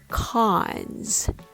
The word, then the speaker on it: cons: Syllable number three cons. The vowel here is the open back vow a like in the word father.